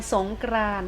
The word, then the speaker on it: สงกรานต์: อ่า ว่า จะ ไป สงกรานต์ ค่ะ สงกรานต์ ตัว อะไร การันต์ คะ เดช มี ตัว ต่อ เต่า การันต์ นะ คะ เรา จะ ไม่ อ่าน ออก เสียง ตัว นี้ เนื้อ หา ต่อ